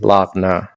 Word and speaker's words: Lagna: And your Lagna is spelled, it sounds like Lugna, but it's actually Lagna, Lagna, right?